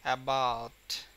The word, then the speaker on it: about: যেমন অ্যাবাউট, অ্যাবাউট, এখানে কিন্তু এ স্ট্রেসটা কম, বাট এর এখানে অ্যাবাউট, বাউট, এই বাউটের উচ্চারণটা কিন্তু অনেক মানে চাপ দিয়ে দিতে হয় স্ট্রেংথ নিয়ে।